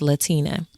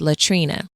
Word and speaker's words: Latina: I dreaded having to correct people when they heard my name was Latina, only to have them mispronounce it as Latrina.